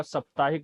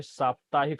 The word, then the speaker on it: साप्ताहिक: तो ध्यान रखना होगा, साप्ताहिक नहीं साप्ताहिक शुद्ध शब्द होता है।